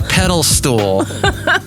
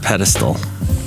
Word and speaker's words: pedestal: pedal stool a pedal a pedal stool and it's ped pedestal and and don't be